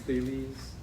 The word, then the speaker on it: Thales: It's pronounced Thales.